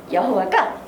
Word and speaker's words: 여호와: 영어식으로 읽으면 여호와가 제호바 이렇게 얘기하는 거예요. 제호바. 네, 제호바. 영어식으로는. 그리고 우리 한글식으로는 여호와 이렇게 읽지요. 근데 여호와라고 해도 틀린 건 아니에요.